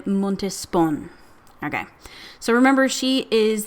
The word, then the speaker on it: Montespan: Montispan, Montispan. I don't know how to say her name. Let me see what the internet says. Okay. Okay. The internet says it's Madame De Montespon.